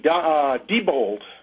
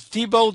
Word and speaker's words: Diebold: DBD, Diebold, it's pronounced. I've never known how it's pronounced. It's Diebold or Diebold, but I guess Diebold is what most people say.